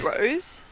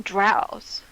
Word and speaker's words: drow: them drows. Say again? I call them drows. You can call them either one. They're both. Oh, good. They're both acceptable.